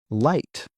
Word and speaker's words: light: For example, in the word light.